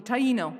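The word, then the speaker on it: Taíno: practice and tino spirituality could you say it right for me okay Taino there you go thank you she's specifically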